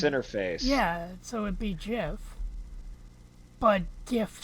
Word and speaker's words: GIF: no doubt in my mind that it's actually pronounced Jif because it's one of those things of the